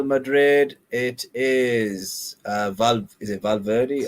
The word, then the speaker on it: Valverde: Real Madrid, it is is it Valverde? How do you say it? Yeah, Valverde.